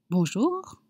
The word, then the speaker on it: bonjour: Bonjour.